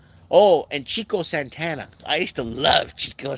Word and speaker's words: Chico Santana: Someone's saying Tito Santana. No, it's Chico Santana. Okay, it's pronounced Chico.